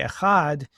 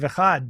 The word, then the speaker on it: Echad: When we say Echad, it says in the Talmud that you should prolong the D at the end of Echad, but you can't prolong the D if you pronounce it the way we normally pronounce it. It's just D, it ends. But if you do it as a TH, a vocalized TH, then you can elongate it.